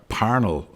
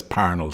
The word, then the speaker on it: Parnell: So thankfully we completed the series with Charles Stewart Parnell are Parnell is the correct pronunciation but nobody says Parnell Street.